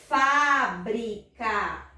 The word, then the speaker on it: fábrica: Nós vamos ter aqui, olha, a palavra fábrica. Vamos fazer a separação. Fábrica. Qual é a sílaba tônica? Tia, é o Fá, porque ele tem acento. Isso mesmo, é o Fá, porque ele tem acento, tá certo?